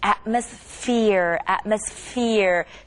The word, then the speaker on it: atmosphere: And that PH pronunciation, 저번 때 F 발음 배웠잖아요. Same thing. Atmosphere. PH도 똑같이 F 발음하고 비슷하고요.